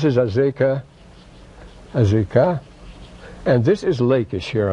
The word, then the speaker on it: Lachish: Between 1935 and 1938, at Lachish were the Lachish letters.